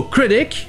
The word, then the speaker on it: critic: Donc dans le mot critic, la première syllabe est accentuée, mais les deux sons de voyelle c'est le son E.